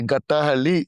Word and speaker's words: Gattahalli: We are on off Sarjapur Road in Gattahalli. We're very India. You know. The day you're able to mention the Gattahalli, you're a true Bangalorean. Yeah, did I pronounce it right? Wow, perfect.